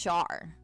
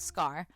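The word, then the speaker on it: Schar: I think it's Char. I think I figured it out. I think it's Char, not Scar.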